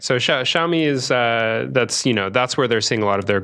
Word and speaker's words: Xiaomi: the Chinese company with the x is that xiaomi xiaomi is how you pronounce it xiaomi yeah x i a o m i xiaomi